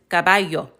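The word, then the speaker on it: caballo: But this is cababayo. So, we only hear the a sound one time.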